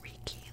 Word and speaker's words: Reiki: I don't really know the right way to pronounce it. I think that where I live it's Reiki, like that's how we would pronounce it.